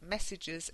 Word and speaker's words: messages: Okay, choose, C-H-O-O-S-E, messages, M, not N. M for mother, not N for November. M-E-S-S-A-G-E-S.